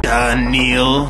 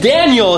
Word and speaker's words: Daniel: that make you feel danil danal danal my name is Daniel is that you got such a weird accent you're mispronouncing my name boy try again Daniel Daniel